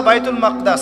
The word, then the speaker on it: বাইতুল মাকদিস: এই বোরাক চলে গেল বাইতুল মাকদাস এটা কোথায় বাইতুল মাকদিস সরি বাইতুল মাকদাস না বাইতুল মাকদিস বিভিন্ন মানুষ বিভিন্ন উচ্চারণ করে এটা হচ্ছে প্যালেস্টাইন কোথায়